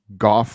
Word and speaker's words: Goff: Oh, Goff rhymes with cough. Okay. Yeah. Thank you for the clarification. Has anybody ever pronounced your name as before?